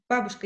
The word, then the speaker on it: Бабушка: No, on the first, the stress is on Бабушка. Yeah, on the first one.